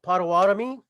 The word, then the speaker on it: Potawatomi: And it's my pleasure tonight to introduce a citizen of the Potawatomi nation.